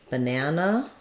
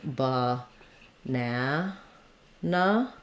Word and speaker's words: banana: ah the schwa sound it's the same sound we have in longer words like in um banana we have banana sounds like ba nah nah those unstressed syllables and longer words are the schwa the uh and that's